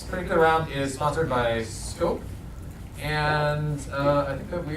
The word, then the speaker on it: SCOP: As in the producer's scope office. Okay. Wait, it's pronounced scoop? It is pronounced scope.